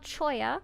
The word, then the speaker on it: cholla: They're called Choya. It's spelled Cholla.